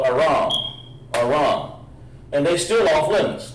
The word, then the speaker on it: Aram: Not Aaron, but Aram.